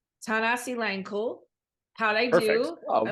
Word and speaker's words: Thanasilangkul: And this week I am with my new friend, Zach, and I'm going to say it right, Thanasilangkul.